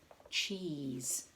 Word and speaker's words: cheese: you can't hear it it's a silent letter and it's the silent e on the end or sometimes we forget to put that one on but cheese has this silent letter at the end cheese so we've got shell